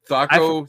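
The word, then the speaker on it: THAC0: Thaco, Like Thaco, taco. Taco. Just the H added in there.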